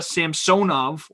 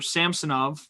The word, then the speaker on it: Samsonov: And then Ilya Samsonov, or Samsonov, however you want to pronounce it, he is an RFA, I believe.